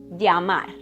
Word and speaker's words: llamar: Double L, elle, or Y, o, y, sounds like ya. For example, llamar, llamar. And vowels never change.